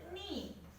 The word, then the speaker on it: knee: For example, knee, K-N-E-E, knee, knee. While pronouncing, we cannot hear the letter K.